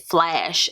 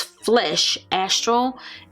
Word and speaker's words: Flesh Astral: I thought it said Flash, I think, when I first talked about this, but it's Flesh Astral, and this is sort